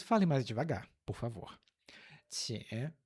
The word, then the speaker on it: 请: O por favor é a primeira sílaba. 请, 请, terceiro tom.